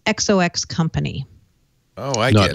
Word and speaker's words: XOXCO: Is it pronounced Zoxo? I asked. So Microsoft bought a company today, XOXCO. And the way to pronounce it is XOX Company.